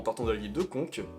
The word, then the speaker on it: Conca: de la ville de Conques, qui s'écrit Conca, jusqu'à la ville de Calenzane, qui s'écrit Calenzana. Mais bon les Corses ils prononcent pas les A à la fin des villes ni des O à la fin des mots, donc voilà, j'essaie de